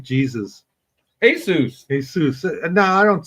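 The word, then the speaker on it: Jesús: What's the one that's spelled like Jesus? Jesus. Jesus. No, I don't see how you get Jesus out of that spelling. Jesu, because the J is an H.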